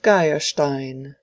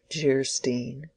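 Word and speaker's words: Geierstein: Anne of Gastein, pronounced Jerstein, or the maiden of the mist by the author of Waverly.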